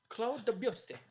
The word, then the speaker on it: Claude Debussy: Claude Debussy. That's how I think you should say his name.